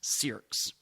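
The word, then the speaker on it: Cyriacks: tomorrow next update Rachel sirs and that's c y r i a c KS if uh forget about the spelling of that but that's how it's pronounced sirs Rachel Lucille sirs was a 30-year-old from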